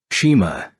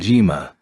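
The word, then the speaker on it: 島: eyebrows nearly meeting Island Shima and Jima mean the same thing but the pronunciation changes to Jima depending on the character that precedes it there's no point in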